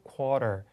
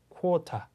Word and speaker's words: quarter: 그래서 이렇게 flap 사운드가 돼서 quarter 하지 않고 quarter, party, water 이런 발음과 동일하게 생각하시면 됩니다. 하지만 영국 사람들은 소리를 그대로 낸다. 그래서 Caught up. 이렇게 그렇죠. Caught up. quarter. 앞에 모음도 좀 다릅니다만 일단 자음에 집중하셔서 quarter 이렇게 T 사운드를 정확하게 소리를 내게 되겠죠.